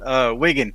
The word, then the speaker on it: Wygan: Am I pronouncing your last name correctly? That happens a lot. Weegan is uh Weegan.